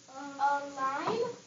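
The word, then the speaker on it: align: h a a right a line yeah nice job Madison line a line the g is silent say the g is silent it doesn't make sense to say a Lian no what does a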